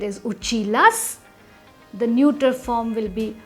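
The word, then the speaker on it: училась: So the pronunciation of the feminine form would be uchilas. Masculine form is uchilsya. The feminine form is uchilas.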